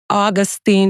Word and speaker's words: Augustin: Command Master Chief Jacelyne, Augustin.